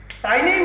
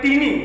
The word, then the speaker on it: tiny: So, tiny means very small, right? Some people they pronounce like teeny, but that is actually tiny.